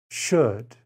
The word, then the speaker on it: should: could should and would there is no l sound in these words the l is silent could should would number four o